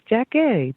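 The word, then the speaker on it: Jackée: She is JACKEE. Did I pronounce that correctly?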